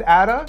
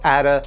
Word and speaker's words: Ada: Like, they named their goat baby Ada after a child they lost. And yes, it's Ada, not Ada. They're Icelandic. They pronounce it Ada.